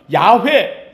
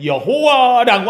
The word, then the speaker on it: 야훼: 성경에 나오는 이름들을 보면 야훼, 여호와라고 하는 말이 나와요. 야훼라는 말과 여호와라는 말은 같은 말이에요. 그 발음을 어떻게 하느냐에 따라서 야훼라고도 발음하고 여호와라고도 발음을 하는데 원래 히브리 발음에는 야훼에 가까워서 요새들은 야훼라는 말을 쓰기도 해요.